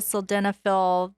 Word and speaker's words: sildenafil: know there's uh sildenafil and tadallophils how you pronounce it yeah tadalaphyl sildenophil um viagra cialis for patients that you know